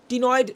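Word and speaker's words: ctenoid: এই যে উচ্চারণটা কিন্তু টি হবে, সিটা মিউট, তাহলে টিনয়েড টাইপের স্কেল।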